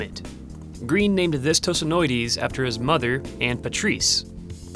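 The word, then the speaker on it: Tosanoides: How do I pronounce the first part of it? Oh, that's easy. Tosonoides.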